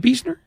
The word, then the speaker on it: Beisner: Michelle biesner Buck yes is it beesner I think it is I'll take your word I think it is beesner and I also don't